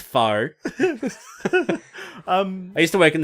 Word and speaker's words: faux: Oh, that fox leather. It's pronounced faux.